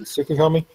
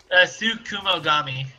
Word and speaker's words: tsukumogami: Or, is that how you pronounce it? Tsukukami? Tsukumogami. In Japanese words.